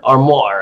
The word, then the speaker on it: Armour: armor Pro AR M or more or more is how it really pronounce it but are more Pro